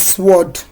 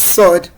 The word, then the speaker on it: sword: This word is not pronounced as sword. it is pronounced as sod. The W is silent, is a silent letter.